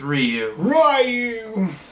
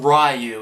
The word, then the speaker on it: Ryu: god the issues with ryu they call him ryu in the film you never hear it said ryu it's always ryu and that irk stuff